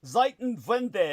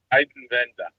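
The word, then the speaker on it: Zeitenwende: Zitan Vende. Am I saying that right? Zitan Vende. Ziten Venda. Zaiton Venda. Thank Ziten Venda. Is that it? Thank you. You have to spell it. I mean, from what I'm hearing, it's totally wrong. It's this monumental change or or like a tectonic shift. Z E I T E N for time or and then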